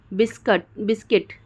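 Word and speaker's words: biscuit: फिर गिल्ड, फिर guilt, guitar, guard, बिस्किट, ठीक है, तो यहाँ पे साइलेंट हो जा रहा है।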